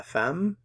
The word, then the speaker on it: femme: the lapostrophe okay the fam La Femme femme fam La fam the woman so this one is